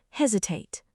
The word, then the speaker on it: hesitate: Today's word is hesitate. To hesitate means to pause because you're unsure or nervous. I hesitated before answering the question. Don't hesitate to ask for help. Pronunciation: hes-i-tate. Stress on the first syllable.